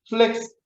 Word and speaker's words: 플렉스: 플렉스. F 발음이죠. 플렉스. 마스크 때문에 제가 저의 이 유려한 발음의 구강 구조를 제가 못 보여드리는 것이 안타깝습니다.